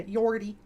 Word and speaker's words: Jodi: Oh, Jodi is the pronunciation. Okay, cool. Oh, okay. That makes it easier then. Yeah, Jodi.